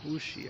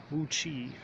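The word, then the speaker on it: Wuqi: The Wuxi, I think it is. Yeah, I'm saying it wrong. Anyway, the U-Bike station is in front of the district office. Yes, Wuchi. There we go.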